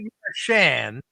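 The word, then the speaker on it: Marchand: Brad Marawn and Brad Marshan. He said I seen I looked it up online. He's there and he says Mar with a D.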